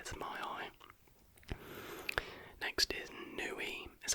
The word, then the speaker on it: Niue: Next is Niue, is how you say it, N-I-U-E.